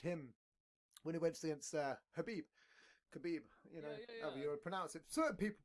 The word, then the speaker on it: Khabib: Yeah, well, it depends on where you're from as well, because certain people in the States pronounce it Habib, you know.